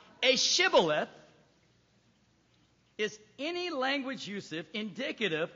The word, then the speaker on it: Shibboleth: If he replied no, they said, all right, say Shibboleth. If he said Sibboleth, because he couldn't pronounce the word correctly, they seized him and killed him at the fords of the Jordan.